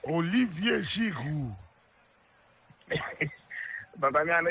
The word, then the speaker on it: Olivier Giroud: This Oliver Giroud. Olivier Giroud. But I mean, I know if you pronounce it that way, Olivier Giroud.